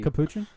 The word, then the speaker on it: Capuchin: special type of monkey Capuchin is that how you say it yes yeah kuchin kuskin it's